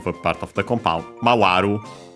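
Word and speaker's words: 回る: Mawaru. Actually, mawaru unaccented as well.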